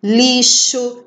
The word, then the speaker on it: lixo: Peste, lixo. Lixo se escreve com X, mas tem som de CH.